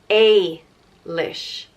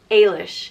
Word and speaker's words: Ailish: it's i lish Eilish if there's a budget over the first ii it's a leash Ailish and if there's two